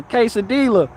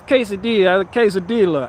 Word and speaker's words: quesadilla: I say it's quesadilla. I pronounce the L's.